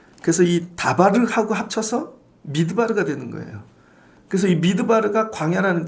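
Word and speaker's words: מדבר: 때 m을 네모 모양으로 쓰거든요 근데이 m이 뭐냐면은 매미라고 읽어요 맴 그래서이 다발을 하고 합쳐서 미드바르가 되는 거예요 그래서이 미드바르가 광야라는 뜻입니다 그래서 신명기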